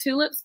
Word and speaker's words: TX Lips: It's pronounced Tulips, but it has an X in there because I don't believe that women have boundaries.